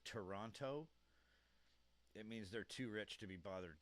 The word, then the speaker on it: Toronto: If a Canadian says Toronto, it means they're too rich to be bothered to bother talking to um because 99% of Canadians don't pronounce the T in Toronto.